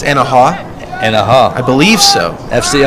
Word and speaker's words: Anahuac: I think the C is silent. It's Anahuac.